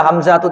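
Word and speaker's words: حمزةُ: Kenapa dibaca Hamzatu tidak tanwin di sini? Karena dia termasuk mamnu sorof. Nama laki-laki yang di ujungnya ada ta'ut ta'nis.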